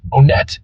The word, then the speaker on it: Onett: thing we don't joke about is how to pronounce onet onet is the way to say the name of